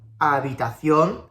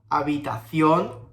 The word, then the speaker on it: habitación: keep in mind, every time you see a H, you don't have to pronounce it. So we have hola, habitación, helado. Hola, habitación, helado.